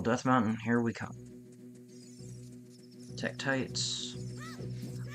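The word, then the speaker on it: Tektite: Mountain here we come Tech tis I used to pronounce it as Tech TIY scorn was such a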